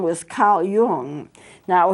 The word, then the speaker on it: Carl Jung: But this is started by a Swiss psychologist whose name was Carl Jung. Now, you spell his name J-U-N-G, but you don't pronounce it J-U-N-G. It's pronounced Jung.